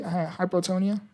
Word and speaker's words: hypotonia: Uh hypotonia detection. Uh did I say that correctly? Hypotonia. You got it. It's pronounced hypotonia, which refers to reduced muscle tone.